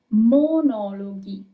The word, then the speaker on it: monologhi: the English word, and in Italian it's monologhi. Monologhi. Okay? So you can have G-H-I-G-I-H-E. It doesn't matter. The sound is always going to be G of G-H. It's never going to be J.